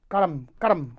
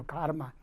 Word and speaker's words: karma: Some in Indian they pronounce karam, karma. How is it? Maybe Sanskrit karma. In English it's become karma.